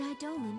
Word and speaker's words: Eidolon: The king is sending you to Mist to slay the Eidolon, isn't he?